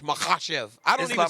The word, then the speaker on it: Makhachev: correctly okay Islam MV it's like an h mahash i don't even say